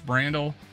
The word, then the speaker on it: Brandel: well I think um Randall pronounce Brandel which is I don't know brand people are calling brandell for some reason but it's Brandel it was four year